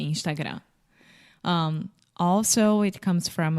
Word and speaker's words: Instagram: the final m Portuguese we don't close our mouth so we say Instagram without closing the mouth right we are smiling when we say Instagram um also it comes